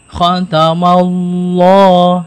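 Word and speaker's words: خَتَمَ اللَّهُ: Jadi khatamallah ya, jangan kepanjangan. Khatamallahu ala, nah itu terlalu panjang, maka pakai rumus 2 harokat.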